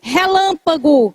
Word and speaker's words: relâmpago: Relâmpago. Vamos separar a sílaba. Coloque barra ré pago. Ela é uma palavra proparoxítona. A sílaba forte fica antes da penúltima.